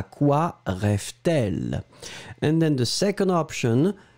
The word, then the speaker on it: rêve-t-elle: and between the two, you will put the T just to make it, smoother to pronounce. À quoi rêve-t-elle?